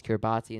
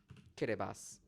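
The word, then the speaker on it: Kiribati: which is fine because I always thought it's Kiraabati until I found out it wasn't Kiraabati. Kirbas, USA.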